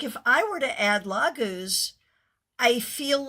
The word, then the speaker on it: Laguz: Okay, let me make sure I'm pronouncing this correctly. Is it Laguz? Laguz.